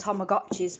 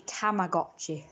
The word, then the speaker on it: Tamagotchi: American for some reason Americans pronounce a as O's for some reason so I don't know where dad heard that they were called tomagotchi but I guess he heard an American say it it's actually Tamagotchi it's a tamot but